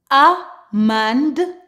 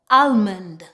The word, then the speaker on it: almond: If we have the combination ALM, ALF, and ALK, typically the L in the word is silent. For example, amand, amand. With some accent, they actually pronounce the L, almond, so please keep this in mind.